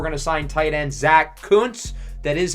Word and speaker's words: Kuntz: With the extra roster spot, we're going to sign tight end Zach Kuntz.